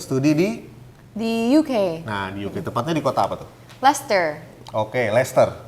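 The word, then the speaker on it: Leicester: UK nah oke Lester tapi biasa orang di sini tuh enggak ada yang bisa baca tuh namanya Lester biasanya orang bacanya lagi Caster Nah itu ada tuh klub bolanya tuh ngomongnya lecester City gitu ya jadi gitu Jadi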